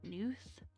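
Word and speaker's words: Gnuth: like nth would be the g is silent there's a g in the front it's g n u t h but I feel like it would be newth den and I almost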